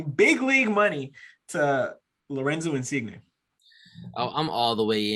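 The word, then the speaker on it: Insigne: if i'm slaughtering this guy's name uh lorenzo insignia did i say it right dave yeah it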